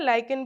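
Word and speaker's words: lichen: Combination ऐसा सा इसको लेजेंस बोलते हैं। ठीक है? लाइकेन भी बोलते हैं या लेजेंड भी बोलते हैं। इसका प्रोनाउंसिएशन दोनों तरीके से ही होता है।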